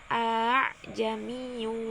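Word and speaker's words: أَأَعْجَمِيٌّ: Bacaan gharib tashilnya yakni pada kalimat a'jamiyun Apabila mengikuti kalimat asli, maka seharusnya cara membacanya a'jamiyun. Namun karena dia terkena bacaan gharib tashil, maka bunyi hamzah yang kedua diringankan menjadi a'jamiyyu wa arabi.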